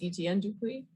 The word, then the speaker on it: Etienne Dupuis: Etienne Dupuis, hope I'm pronouncing that correctly.